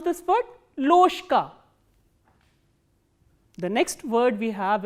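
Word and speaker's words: ложка: Loshka. Why loshka? Because again there is a voiced consonant coming before the voiceless consonant.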